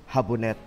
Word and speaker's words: Jabonet: That's from Jabonet. It's, if you're gonna read it like a Filipino, it's Habonet.